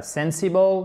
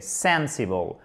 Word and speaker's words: sensible: Accent tonique sur la première syllabe. Attention, ce n'est pas sensible, mais c'est sensible.